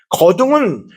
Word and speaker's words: 거둥: 원래 한자는 거동이지만 거둥이라고 발음합니다. 거둥은 조선시대 왕이 선대 왕의